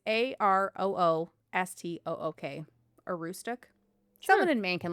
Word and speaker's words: Aroostook: Um I This is a weird thing to pronounce. Is it Aroostook? It's A R O O S T O O K.